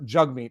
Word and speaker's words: Jagmeet: doing that on purpose his name is pronounced jug meat i didn't i never